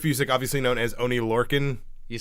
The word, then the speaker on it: Lorcan: So Biff Busick, obviously known as Oni Lorcan. You said it right. Yeah! Hey, look at you. First time! Like I said, the Orkin Man with an L.